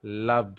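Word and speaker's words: lub: So this produces the लब sound. Okay, it takes longer duration. इसलिए आप इसको जब प्रोनाउंस करोगे, कैसे करोगे? लब, इस तरह से करोगे।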